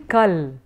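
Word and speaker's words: कल: Sanskrit, which is that when you're writing kal, in Sanskrit you would have written kala, because you're writing a full kala, but you're pronouncing it as kal, and therefore you have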